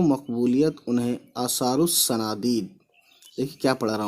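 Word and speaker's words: آثار الصنادید: शोहरत व मकबूलियत उन्हें आसारुस सनादीद, देखिए क्या पढ़ रहा हूँ मैं, आसारुस सनादीद, तो रे पढ़ रहा हूँ मैं, यानी कि आसारुस, रे के बाद अलिफ लाम को साइलेंट कर दिया है ना।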